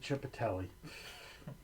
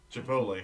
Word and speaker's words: Chipotle: For the longest time, my mom called it Chipatelli. Chipotle.